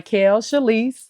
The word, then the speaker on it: Chalyce: awesome okay so everybody my name is chalise you can find me on Instagram Facebook Snapchat all that good stuff so it's spelled and